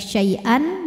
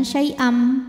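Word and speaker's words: شيئا: Jadi tidak lagi syai'an melainkan syai'am, bunyi M dan tahan dengungkan.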